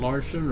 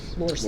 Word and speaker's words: Lorson: Larson or Lorson? Lorson.